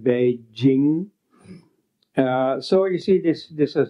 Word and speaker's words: Beijing: So, I mean, this is a very common, or in Chinese, for instance, Peking is now pronounced Beijing.